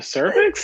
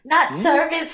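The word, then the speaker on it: Sir Vex: No, it's spelled SIR space VEX, cervix, not service like your lady bits.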